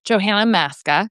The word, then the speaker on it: Johanna Maska: politics you know I Johanna Masca is how I pronounce my name but I didn't care if people said Johanna you know Janna whatever because you know